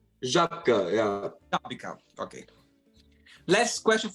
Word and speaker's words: Żabka: It is, they just look at something and they just go like Żabka. Like Jabika. Żabka, yeah.